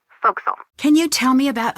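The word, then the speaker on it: forecastle: that okay ship fact the for Castle on a ship refers to the upper forward deck of a sailing ship but it's pronounced fil can you tell me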